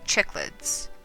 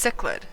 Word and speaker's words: cichlid: octopus paddlefish clownfish and chicklets chick hold up give me a second okay apparently it's pronounced cichlid so i have those